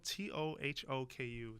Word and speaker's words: Tohoku: was headed to uh so it's spelled t o h o KU toou toku tohoku tohoku university in suai to meet